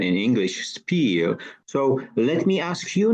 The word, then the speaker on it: spiel: And thank you for the right pronunciation in English, spiel.